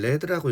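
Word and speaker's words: read: 뭐 덕분이 덕분이었습니다 자 이거는 레드라고 읽어야죠 발음이 레드 이렇게 발음이 돼야죠 왜 리드 레드 레드 지금 현재 과거가 그리고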